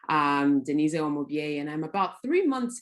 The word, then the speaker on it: Umubyeyi: off hello everyone my name is denise actually spelled like denise um denise o'mubier and i'm about three months into uh co-living